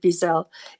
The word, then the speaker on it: Wiesel: And I heard the most wonderful YouTube by Elisha, I think you pronounce it Wiesel, Elie Wiesel's son.